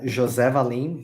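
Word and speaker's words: José Valim: Do you mind correcting my pronunciation quick? Uh, it's Jose Valim, but don't Jose.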